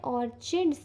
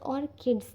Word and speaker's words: Orchids: Channel का नाम है ऑर्चिड्स टैरो या फिर ऑर्किड्स टैरो। ठीक है, वैसे प्रोनाउंसिएशन ऑर्किड्स टैरो होता है, बट ऑर्किड्स की जगह मैं ऑर्चिड्स बोल देती हूँ, वो गलत हो जाता है।